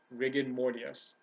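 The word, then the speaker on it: rigor mortis: this is another real life example is rig rig morus that's how you pronounce it when someone first dies their muscles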